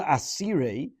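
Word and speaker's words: אסירי: The word asire is written with a vav but pronounced with a yud.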